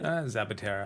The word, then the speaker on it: Zapatera: like i feel like zapitara that is that am i pronouncing it right zapaterra yes whatever anyway i feel like